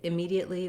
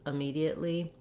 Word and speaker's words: immediately: syllable if i say immediately versus immediately there's not a really big difference there there is a difference if i say immediately or immediately and i'm using a clear vowel it's not going to